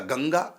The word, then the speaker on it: गंगा: फिर गा हो गया गंगा। अब ये इसको हम अंगा बोलेंगे, ना नहीं बोलेंगे, मां नहीं बोलेंगे, गम गा नहीं बोलेंगे, गंगा बोलेंगे, जबकि बिंदी है।